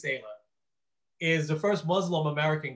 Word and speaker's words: Saleh: And so Robert Salah, I hope I'm pronouncing his name right. I think it's Saleh, is the first Muslim American coach.